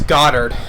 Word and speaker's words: Goddard: got the name wrong it's Goddard not go to I don't know why I said that but it's Goddard Lord Goddard the head